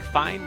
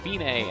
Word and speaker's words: fine: going to a little sound it looks like fine but it's pronounced fine and it means it's the end the finish